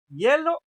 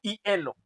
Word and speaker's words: hielo: ¿Cómo se dice correctamente? Hielo. ¿Voy a comer el hielo o voy a comer el hielo? Ándale, hielo, ¿no? O sea que la I y la E suenan rápido, ¿no?